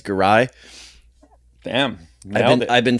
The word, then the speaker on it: Giray: Is it spelled Giray? That's how you'd spell it phonetically, or Giray, but it's Giray.